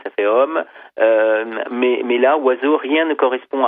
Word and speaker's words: oiseau: Vous dites aussi que le mot oiseau est le seul mot de la langue française dont on ne prononce aucune aucune syllabe. Hein, quand on dit oiseau, rien ne correspond à la lettre.